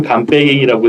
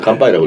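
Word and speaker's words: 乾杯: 그래서 잔을 마르게 한다라는 뜻인데 그래서 이 똑같은 한자를 우리나라에선 건배라고 읽는 거고 중국에선 간빼이라고 읽고 일본에서 간빠이라고 예, 일본에선 간빠이라고 하고 똑같은 한자예요.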